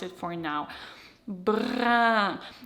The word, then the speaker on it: brun: Brun. Remember, smile, drop.